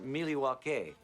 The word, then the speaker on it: Milwaukee: awful lot of information don't you think but Milwaukee has certainly had it share of visitors in fact isn't Milwaukee an Indian name yes Pete it is actually it's pronounced milake which is El gonin for the good land